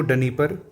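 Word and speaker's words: Dnieper: है ये इंपॉर्टेंट है नी परर नदी को डनी परर भी कह देते हैं ठीक है लेकिन डी साइलेंट रहता है आगे चलते हैं अगली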